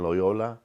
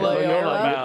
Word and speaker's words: Loyola: security guards in Loyola, and we had security guards in our building because of Johnny Cochran.